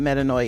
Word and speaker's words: metanoia: And so I guess I should have started by breaking down what metaninoia is. Let me explain to you again. It's pronounced metaninoi and it is a Greek word